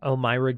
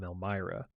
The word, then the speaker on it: Elmyra: ran into Elmyra I believe her name is pronounced Elmyra Gainesboro who went on to adopt aith and